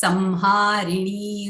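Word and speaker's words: संहारिणी: When that anuswara is followed by ha, it is Samharini Rudra Rupa.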